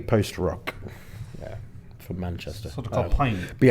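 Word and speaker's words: Pijn: Uh, with main support was a band who I call pigeon, but it's actually pronounced pine.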